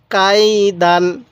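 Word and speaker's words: كَيْدًا: জবর দান খেয়াল রাখবেন এই আলিফটা লেখার সময় আসবে পড়ার সময় আসবে না দাল আলিফ দুই জবর দান দান এরকম ভাবে শিখবেন তাহলে কি উচ্চারণ হবে পুরোটাই কাইদান কাই দান এরকম ভাবে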